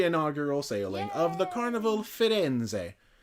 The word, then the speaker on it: Firenze: sailing of the Carnival Firenze. I had to look up how to pronounce it, and apparently you do say that last E.